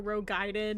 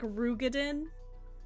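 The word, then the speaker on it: Roegadyn: it was like a Rogaiden, it would be like, or a Rugadin. I learned how that was actually pronounced recently. It's like Rugadin, and I was like, you're fucking lying to me right now, Alpha.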